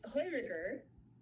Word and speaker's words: Heuriger: In Austria, the word, you pronounce it, Liz. Christine and I remember it's Heuriger.